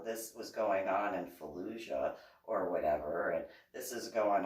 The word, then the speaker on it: Fallujah: what'd I do wrong where did you see Fallujah and how do you know how to pronounce that how it's pronounced no that's exactly